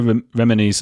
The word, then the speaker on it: Remini: how realistic is Leah remini's I can never say her name what is it again Chris yeah remedy Leah Remini you put it on the first syllable remedy uh Leah remini's documentary